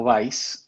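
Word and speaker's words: Weisz: En Europa pronuncian Weiss, que significa blanco en alemán. O Y sea, que en ese momento se escribía con Z. con Z. Sí, Ese sí. W-E-I-S-Z. Por cierto, hay una actriz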